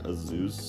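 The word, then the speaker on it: Azuz: It's like A-Z-U-Z, so it's like Azeus.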